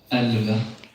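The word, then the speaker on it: elleve: Elve, Elve. elve. Elve. I've written in brackets below how you Elve. actually pronounce the word. You don't really pronounce the E in the middle there.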